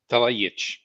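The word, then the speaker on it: Talajić: Terrific art by Dalibor Talajic, J-I-C accent. Talajic. There we go. Excellent art. And this is the one, I think the world ended. You always forget. In Slavic languages, the J is a Y.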